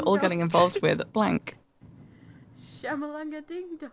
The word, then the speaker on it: Shyamalan: Say Shyamalan. The words, Shyamalan, like the letters, you say them in order. It's a pity that kids these days are all getting involved with blank. Shyamalanga ding dong.